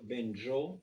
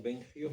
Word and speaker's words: Benjo: Pero los judíos que hablan ladino pronuncian mi nombre de familia como se escribe en hebreo Benjo, no Bengio.